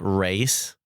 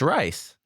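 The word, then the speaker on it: Reiss: to say the name it's rice why' she say race I don't know cuz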